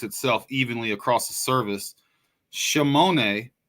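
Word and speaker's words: שמונה: In Hebrew, the word 8 is pronounced shemone.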